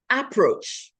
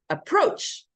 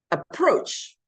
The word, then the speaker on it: approach: Then we hear approach. No, it's approach. Second syllable, approach. That's where the stress should be.